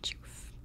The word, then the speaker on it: Jawf: pronounced Jawf.